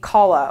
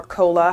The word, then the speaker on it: COLA: it's what we call a Kala or a cola where you want to pronounce it which stands for cost